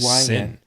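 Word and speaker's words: Cyn: We have a 4th character that showed up, and they are called the Sin. That's spelled C-Y-N. Sin.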